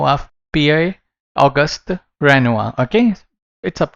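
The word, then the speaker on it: Pierre-Auguste Renoir: But इसको कैसे pronounce कर सकते हो आप? PI ऑगस्ट रेनुआ, okay.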